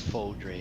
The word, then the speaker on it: Fodre: Is it Fodre, Fadre, or Foder? it's Fodre.